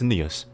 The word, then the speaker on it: Nious: It's Nious. Have you heard the game Nier from Square Enix and Platinum? Yeah. It's Nier, but without the R part. With the then it's an S.